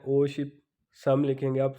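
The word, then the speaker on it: 오십: अब 50 ओ शिप, ओ का मतलब 5, शिप का मतलब 10, यानी कि 5 10 होंगे तो 50 बन गया।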